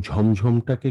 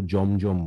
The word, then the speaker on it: ঝমঝম: যতক্ষণ শুনলাম তার মধ্যে অনেকে আপনারা বৃষ্টি বললেন, হ্যাঁ, এবং ঝমঝমটাকে কেউ কেউ জমজম বললেন, কিন্তু উচ্চারণটি হবে ঝমঝম বৃষ্টি।